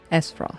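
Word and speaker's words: Aesfrost: glennbrook and aost unity es Frost sorry they don't pronounce the a a is useless s s Frost father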